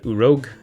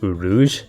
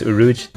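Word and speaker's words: Urouge: supernova in the manga oh well or op07 urog oh crap I just found out he's pronounced uruj but the translation that I downloaded spelled it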